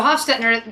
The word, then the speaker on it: Hofstettner: This really cool beer out of Austria, they're called Hofstettner. I like that I had to twist it to make sure that I was pronouncing it correctly. So Hofstettner, they make a beer,